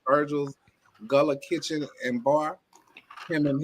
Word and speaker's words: Gullah: I'm glad I left Virgil's Gullah Kitchen. Is that how you say it? Yeah, that's true. That's it.